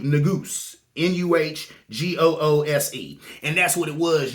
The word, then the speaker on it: Negus: It's actually pronounced Nugus. Nuhgoose.